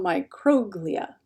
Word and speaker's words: microglia: cells but for science we usually emphasize the third from last syllable so microglia instead of microglia microglia and these are